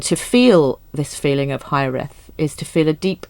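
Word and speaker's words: Hiraeth: And the title that she eventually ended up with is a Welsh word, which is, I think this is how you pronounce it. It's Hyreth.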